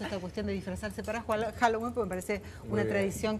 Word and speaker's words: Halloween: día de los muertos Halloween Así es la pronunciación Halloween es una fiesta Celta una Fiesta pagana originalmente